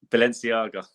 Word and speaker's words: Balenciaga: Balenciaga.